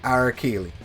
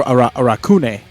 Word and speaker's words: Arakune: That is New 13 and Arakili. I think I said his name wrong. Yeah, Arakune.